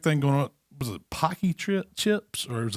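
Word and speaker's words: Paqui: was a big thing going on was it pocky trip chips or it was like a ghost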